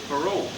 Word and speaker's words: parole: But in French, how do you say I give you my word? Parole. Parole. The man was out on his word. It's spelled the same way, parole, parole.